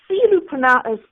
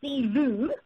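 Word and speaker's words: Selous: And Silu is pronounced Silu, and this is Africa's largest game park.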